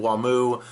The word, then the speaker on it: Wamu: cars ac/dc and Wham I prefer to call them WaMu that's the the Japanese pronunciation as well as how